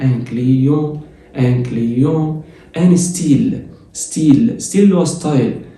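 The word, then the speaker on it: style: حرف الواي هنا اللي هو اسمه اي جريك بالفرنساوي بيساوي الاي اللي هي بالفرنساوي بتتنطق اي تبقى ستي، ستي، اي، اي تبقى ستيل ولا ستايل؟ ستيل، والحرف الاخير ما بيتنطقش.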